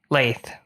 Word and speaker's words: Lath: Lath. Rhymes with faith.